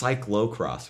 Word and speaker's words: cyclocross: It's cyclocross, right? Yeah, it's spelled cyclo. I thought it was cycle. People just say cycle, but it's spelled cyclo.